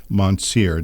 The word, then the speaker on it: Mountsier: His name is Julian Mountsier. Did I pronounce that correctly, Julian?